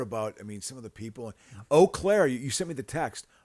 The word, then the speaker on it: Eau Claire: Eau Claire. Ew. I'm hearing Eau Claire. Eau Claire. It's Eau Claire.